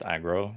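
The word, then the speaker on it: AggroV: No, the V is just there because obviously aggro's taken on Twitch.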